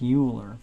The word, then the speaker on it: Euler: up something called Euler's formula it looks like Euler but it's pronounced Euler Euler's formula if you take the